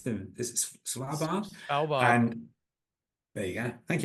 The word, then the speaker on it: Svalbard: The you just finished touring with I can never pronounce them. Is it Svalbard? Svalbard.